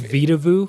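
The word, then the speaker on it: Vedauwoo: It's called Vita Vu. Vita Woo is how it's spelled.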